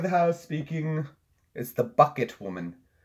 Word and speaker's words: Bucket: house speaking is the bucket woman it's pronounced bouquet father Ted that's it